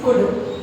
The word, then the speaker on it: could: Today's our topic is could. C-O-U-L-D. Could. We should not pronounce that word could. Why? Because here in this word we can say that L is a silent letter.